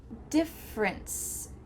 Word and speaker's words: difference: Difference, different, difference, different. Which letter is silent here? It's the E. Difference. Just simply cut out that middle E sound.